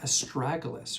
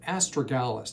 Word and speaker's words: astragalus: We're going to talk about astragalus or astragalus, depends on how you want to pronounce it.